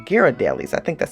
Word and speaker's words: Ghirardelli: was good company too found Ghirardelli's all right Ghirardelli's I think that's how you pronounce it even though the headquarters is in